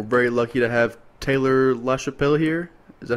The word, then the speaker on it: LaChapelle: us um we're very lucky to have Taylor lashel here is that how you pronounce it okay yep that's how you pronounce